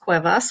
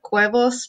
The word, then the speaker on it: Cuevas: So my last name is pronounced Cuevas with an A. Everybody does Cuevas because it sounds like Cuervo, but I am not tequila.